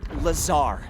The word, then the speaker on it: Lazar: and it's sales liaison it's lazar actually accent on the tsar but yes i'm your